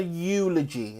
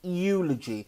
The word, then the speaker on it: eulogy: used to that word eulogy okay eulogy it's almost like a silent e eulogy burial cremation and